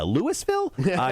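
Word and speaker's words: Louisville: held uh oh yes you even said it right uh lewisville question number four what part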